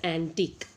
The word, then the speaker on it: antique: This is QUE, but it is pronounced as antique.